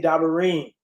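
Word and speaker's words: דברים: You see Dabarym, it has a Y at the end, but we say Dabarym.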